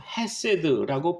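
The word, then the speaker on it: חסד: 인자하심 곧 히브리어로 헤세드라고 발음하는데요.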